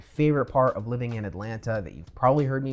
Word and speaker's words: Atlanta: you gotta do is drop the second t and call it atlanta alright so there you